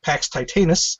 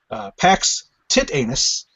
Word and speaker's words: Pax Titanus: satirical subversive novel PAX TITANUS, also known as PAX TITANUS and PAX, or I'm sorry, the three pronunciations that I'm privy to are PAX TITANUS, PAX TITANUS, and PAX TITANUS.